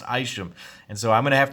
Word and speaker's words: Isham: guy that designed this knife his name is pronounced Isham I asked him myself it is pronounced Isum and so I'm gonna have to correct myself